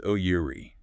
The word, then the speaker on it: Missouri: That s often sounds like a Z and the stress hits the second syllable. Miss Our missure like a Z.